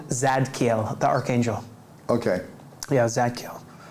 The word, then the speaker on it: Zadkiel: Yeah, Zadkiel, like Michael.